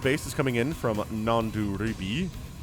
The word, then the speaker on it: Nanduribhai: A third base is coming in from nanduribhai. Nanduribhai. How about that? Nanduribhai. Man, 4 syllables is a lot.